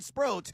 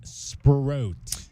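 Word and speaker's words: Sproat: All right, so now I know my fantasy pitcher is Brandon Sprro. It says here rhymes with boat, moat, or note.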